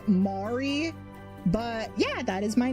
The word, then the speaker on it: Mari: just for the reference, it's meant to pronounce Mari, not Mary or Marie. I know I know there are a lot of people like the name Mari, especially with how it's spelled. It could go one way or the other, but it's pronounced Mari.